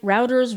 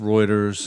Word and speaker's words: Reuters: to it so I'm never saying it right routers rooters it's it's actually pronounced Reuters reuer you could have asked me before the